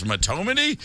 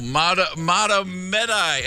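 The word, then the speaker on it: Mahtomedi: I said, "How do you say this, Matomedy?" And it was like, "No, Matomedi."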